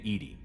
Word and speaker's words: EDI: Except, Why are you named Edie? EDI is the phonetic pronunciation of EDI.